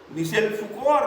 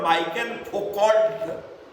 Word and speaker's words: Michel Foucault: Michel Foucault or Michael Foucault in Indian pronunciation.